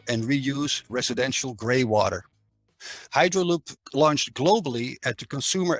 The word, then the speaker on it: Hydraloop: Arthur is the founder and CEO of Hydraloop, I should say it correctly.